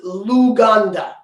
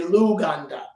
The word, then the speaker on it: Luganda: and that's in and their language is luganda so it just it rhymes with Uganda so you can say luganda um do they have